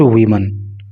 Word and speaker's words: woman: और वीमन से रिलेटेड मैं आपको बात बताऊं, जब ये नाउन लिखा जाता है WOMAN तो इसका उच्चारण होता है वुमन, अर्थात एक महिला। लेकिन जब इस नाउन को WOMEN लिखते हैं तो इसका उच्चारण हो जाता है वीमन, एक से अधिक महिलाएं,